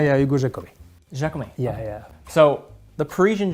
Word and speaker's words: Giacomi: Yeah, Hugo Giacomi.